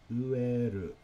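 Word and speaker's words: 飢える: Ueru. Ueru, pronounced ueru.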